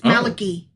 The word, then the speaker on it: Malachi: Like I keep wanting to spell Malachi with a ai at the end, but it's only I. It's malaki. Interesting. Yeah. Interesting. It's just Malaki.